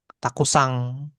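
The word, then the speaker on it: たくさん: Tapi dibacanya kabang kabang pakai eng belakangnya untuk bilang banyak takusang gitu ya. Takusang ada eng yang di belakang.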